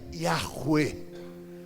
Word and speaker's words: Yahweh: Na hora de traduzir a Bíblia, onde tinha o tetragrama Yud, Rei, Vav, Rei, que se pronuncia Yahweh, eles colocaram Adonai, que significa dono, Senhor.